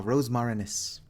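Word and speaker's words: Rosmarinus: gonna read that ah rosemarines i was pronouncing it incorrectly earlier i forgot there was an n in there special weapon used by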